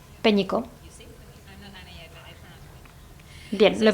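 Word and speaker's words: Pénicaud: ¿Y cómo es la pronunciación de tu apellido? Peñico. Peñico.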